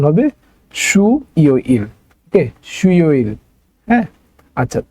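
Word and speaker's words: 수요일: young এর জায়গায় চলে যেত ওকে তাহলে এটা উচ্চারণ হবে সুই ইল ওকে সুই ইল হ্যাঁ আচ্ছা তারপর আছে হচ্ছে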